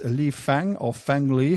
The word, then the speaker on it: Fang Li: It's Li Fang or Fang Li. How do I pronounce it? Fang Li. Fang Li.